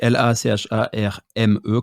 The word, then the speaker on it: Lacharme: Lacharme, donc Lacharme, comme ça se prononce, sur Instagram, sur YouTube aussi.